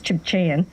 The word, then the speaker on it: Tsimshian: Tsimshian elder who now lives, and the proper pronunciation is Chibchayan, from the West Coast, Prince Rupert area.